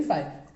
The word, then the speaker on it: phi: हैं, जिसका सिंबल को हम बोलते कैसे हैं, फाई, PHI, फाई। ठीक है, हमारा जो प्रोनाउंसिएशन होना चाहिए फाई होगा, और उसको हम लिखेंगे फाई की तरफ से।